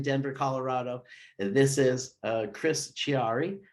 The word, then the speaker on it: Chiari: This is Chris Chiari. How are you, sir? I'm good, sir. And Chiari, if you could say Chiari. Chianti, you can say Chiari.